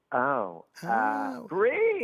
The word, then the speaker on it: Brie: Rhymes with tree. Type of cheese. Brie. Brie.